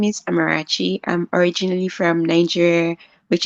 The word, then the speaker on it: Amarachi: And so without further ado, I want to introduce you to my very special guest, who goes by the name of Amarachi.